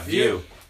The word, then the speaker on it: VU: Dude, it's VU. Yeah, View. It's Pronounced View.